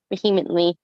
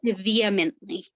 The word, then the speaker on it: vehemently: that does sound like beanly it does sound like Jo to be feisty every time I say this you start talking it's pronounced vehemently vehemently thank you I couldn't pronounce it right I'm like I